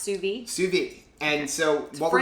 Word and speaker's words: sous vide: hear people say it all kind of like sues my easiest best way to make the state but it's pronounced sube sube and so what we're gonna do is